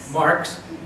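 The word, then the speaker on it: Marques: We're going to start out with Marks. It's a Marquise, it's spelled Marquise, but it's a Portuguese Marks.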